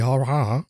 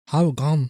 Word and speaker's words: Haugan: And this is according to Helge Harha. Let me say this correctly. Let me pronounce this the right way so I don't sound like a dumbass. Hold on. Haugan.